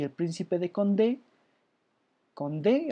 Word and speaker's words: Condé: El duque de Guisa por parte de los católicos y el príncipe de Condé, Condé, así de como conde, pero con acento en la última, Condé, que además fue capturado, ¿no?